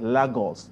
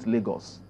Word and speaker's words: Lagos: my teacher told me I should say pronounced legals at Lagos not legals so the child is